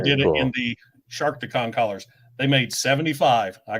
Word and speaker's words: Sharkticon: So it was the whole SharkTicon. Oh, okay. Thing. Gotcha. But I kept pronouncing it ShardaCon.